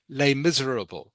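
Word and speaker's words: Les Misérables: okay just talk about lay miserable okay or I think in in French they pronounce it lay miserab does that make sense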